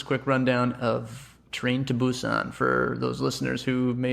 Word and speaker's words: Busan: Train to Busan. Yeah. That's not like bus in.